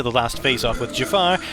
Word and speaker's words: Jafar: last phas off with Jafar who the characters insistently pronounce as Jaffa like an orange field biscuit cake Jaffa I am terrified